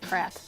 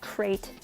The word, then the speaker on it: Krayt: I pronounce it Krat because I think Krayt invokes the image of a giant box coming to eat you, and I don't particularly like that, but I've been told that is the incorrect pronunciation, but I don't care.